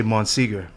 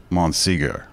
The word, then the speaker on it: Monsegur: do you say it I just say mon Seager mon Seager like Bo like Bob Seager yeah what would you